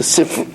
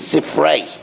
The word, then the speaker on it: Sifrei: In Sifri, in Parshas Ekev, the Sifri is actually the correct pronunciation is Sifrei.